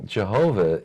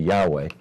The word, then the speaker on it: Yahweh: and I said well Jehovah is the pronounciation based upon I think early German scholarship that is later found to be improved if you move to Yahweh and they started to